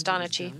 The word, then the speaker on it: Donachie: Am I saying Donachi? Is it Donachi? Am I saying it right? I think it's right? Chi. I think it's Donachi. Yeah. Donachi. Paul Donachi. That's what we're going to say.